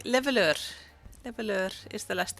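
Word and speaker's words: Leveilleur: Abe keeps on giving me pointers like how to pronounce it and just get like leveleur.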